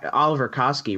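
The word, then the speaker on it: Oliwer Kaski: same thing with Oliver Oliver Koski right because he's like the all it's like ollie w right yeah that's actually a V but it's W but they say it like a V M Oliver yeah I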